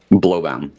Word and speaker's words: Blobaum: and mess it up how do you pronounce it Blow bound okay blow bom all right don't even